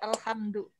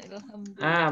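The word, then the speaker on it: الحمد: Ya alhamdu. Alhamdu kan? Bukan ilhamdu. Bukan ilhamdu.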